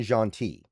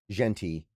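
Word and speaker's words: Jeanty: Bean Robinson or Ashton Janti, it's or I'm sorry I think I'm pronouncing Jonti's name. It's Genti.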